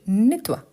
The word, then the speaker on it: nettoie: Donc, vous voyez qu'ici, O plus I devient wa, donc je nettoie.